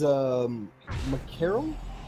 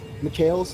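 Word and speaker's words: Mikael's: Has his Macarel, I believe it's called. Mikhails, thank you. I always pronounce that item wrong.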